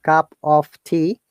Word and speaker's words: cup of tea: Remember, Monica and everyone, if you find this word cup of tea, okay, we do not pronounce the of, cup of tea.